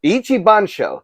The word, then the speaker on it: Ichibansho: Bandai, Namco, Ichibanso, whatever it's... Ichibansho, that's how you say it.